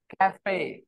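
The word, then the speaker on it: café: accent they have sound a so Nestle okay Cafe Cafe right c a f e and then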